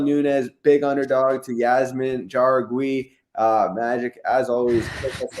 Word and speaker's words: Jauregui: It's Jauregui. How are you? Like it's a hard J.